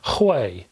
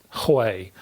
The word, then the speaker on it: Huei: were you called anyway I think you pronounce this Hawaii and I can't stop